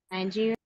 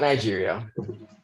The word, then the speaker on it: Niger: Nigeria.